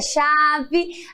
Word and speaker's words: chave: Aí a chave. A chave termina com E, porém tem o som de I.